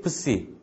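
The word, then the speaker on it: ψι: 또 이제 푸와 스 발음이 합쳐져 있는 거고요.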